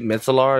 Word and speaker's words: Metzelaars: have Joe Perry at this phone safety Pete mitzelar that's how you pronounce his name and I believe the A2